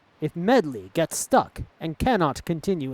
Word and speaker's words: Medli: earth sage let's roll I kept saying her name wrong it's not Madea it's medley like like a song medley I get it all